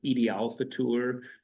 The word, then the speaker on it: Eid al-Fitr: Eid al-Fitr is, and these words are pronounced a little differently. Eid, sometimes you call this Eid al-Fitr. Usually that's a very Western pronunciation.